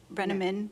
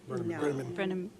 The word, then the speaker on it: Brenham: Brenamin, I always say it wrong. I It's not Brenham. It's Brenham.